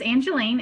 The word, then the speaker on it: Angelene: you do okay okay sure my name is Angelina and you did say it right and I